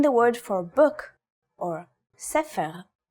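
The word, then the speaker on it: ספר: In the word for book, or sefer, it's pronounced with a f sound.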